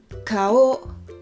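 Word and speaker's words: かお: Kao, kao, 2 syllabes.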